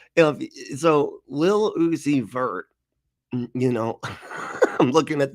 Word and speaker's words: Lil Uzi Vert: and everywhere and now if you say Lil Uzi vert's name Lil Uzi vert it's it's spelled l-i-l you oh my god really p-r-t